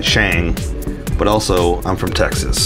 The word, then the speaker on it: Shang-Chi: watching the movie especially you learn that it's shang like sean but with the g